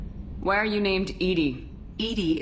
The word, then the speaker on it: EDI: are you named Edie Edie is the phonetic pronunciation of EDI that is an acronym for enhanced defense intelligence I mean into the